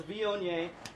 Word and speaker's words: Viognier: for people that are getting into wine to pronounce when they come in the taste room. So it's Viognier, and if you want to relate it to